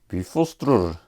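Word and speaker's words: Bifröst: It's called Bifrost. Well, actually, in Icelandic, which is the more correct pronunciation of the Old Norse languages, it's called Bifrostrur.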